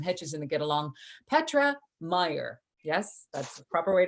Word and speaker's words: Meyer: Petra Meyer. Yes, that's the proper way to say it. Meyer?